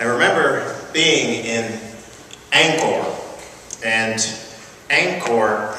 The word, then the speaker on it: Angkor: being in ankle and Angkor is spelled Angie Kor and you said fast it sounds like anger and there's an interesting